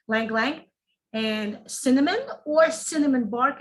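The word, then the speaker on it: ylang-ylang: is rose oil uh lang lang okay it spells with a y y l a and g language y is silent when you say lang lang and cinnamon or cinnamon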